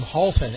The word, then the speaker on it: Halton: 24 Shan s e a n last name Halton h a l t o n batting six